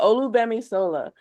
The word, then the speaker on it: Olugbemisola: the G throws people off a lot. So the G in the middle looks like it makes it more So, complicated, but you got it. so the accent is on the O. Yeah, Olugbemisola. Mhm. And the G is almost like it's silent because it's a Yoruba name, and in Yoruba, GB is one letter.